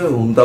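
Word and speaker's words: junta: ও জুন্তা বাহিনীকে যেমন করছে, হুন্তা বাহিনীকে লেখা হয় ঝুন্তা, কিন্তু উচ্চারণটা করে হচ্ছে হুন্তা। অনেক পরে আমি জেনেছিলাম যে হুন্তা, আসল উচ্চারণটা হচ্ছে হুন্তা।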